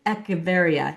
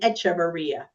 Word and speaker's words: Echevarria: Welcome to the podcast, Echavaria. Now, let me make sure your last name I pronounced it correctly.